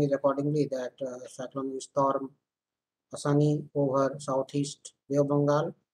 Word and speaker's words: Asani: This is cyclonic storm Asani, pronounced as Asani, over southeast of Bengal, moved northwest parts with